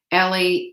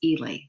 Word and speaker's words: Ely: did it yeah well people always mispronounce my last name ellie eli it's ely hey three letters it's